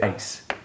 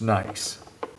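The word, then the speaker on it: gneiss: GN you say say nice even though you might be tempted to pronounce the G you don't pronounce the G so it's just nice and the our particular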